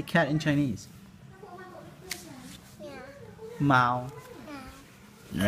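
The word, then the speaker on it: 猫: Mao.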